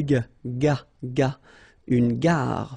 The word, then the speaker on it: gare: Une gare. Final E not pronounced.